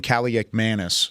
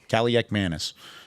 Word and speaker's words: Kaliakmanis: Ethan Kaliakmanis for Rutgers is how you say it. Damn. Kaliakmanis.